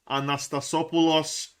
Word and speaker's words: Anastasopoulos: Thomas Anastasopoulos. The guy's already a legend. I love him. Can't wait for the commentators to say that name. Anastasopoulos. That's how you say it.